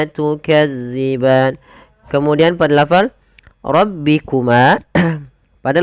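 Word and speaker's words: تُكَذِّبَانِ: Usahakan di dalam melafalkan tukadziban, dilafal huruf dalal, hati-hati ya, Teman-teman. Jangan sampai kita membacanya panjang. Maaf bukan panjang, menggantinya dengan huruf zai. Contoh bagaimana? Tukazziban. Ah, itu diganti. Padahal dia tidak boleh. Yang betul bagaimana? Tukadziban.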